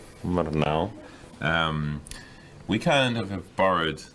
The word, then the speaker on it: Murnau: How's the pronunciation? Murnau. Murnau.